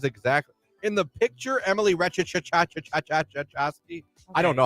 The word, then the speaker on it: Ratajkowski: RATAJKOWSKI. I think it's just Ratajkowski. Ratajkowski? Yeah, I think the J is silent.